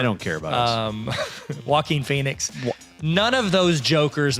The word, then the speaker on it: Joaquin: care about it um joaquin phoenix none of those jokers matter to us wait it's pronounced walking walking phoenix it's a